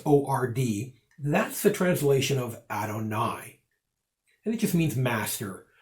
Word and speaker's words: Adonai: And so when we see in the Shema, the Tetragrammaton, they substitute this word, and it's Adonai, is how it would be pronounced, which means Lord.